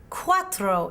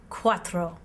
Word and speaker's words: cuatro: tres in spanish tres the number four is pronounced cuatro in spanish can you say it with me cuatro excellent work i'll bet